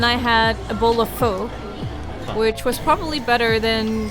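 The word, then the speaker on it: phở: By the way, you know it's pronounced pho, right? Is it? Yeah, not pho.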